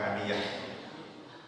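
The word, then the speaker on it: حامية: Ini cara bacanya dari Muawiyah, membacanya dengan hamiah, bukan hamiyah. Hamiah ya, bukan hamiyah. Hamiah artinya lumpur hitam, sedangkan hamiyah bagi yang panas air ini. Ini cara bacanya kan banyak. Bagaimana pembacaanmu? Nah, saya baca seperti bacaanmu. Jadi ada dua versi, ada hamiah, ada hamiyah.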